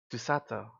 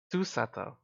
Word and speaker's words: Susato: Susato. Susato. It's really hard to put the inflection on the first syllable.